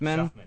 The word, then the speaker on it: Shuffman: Shuffman.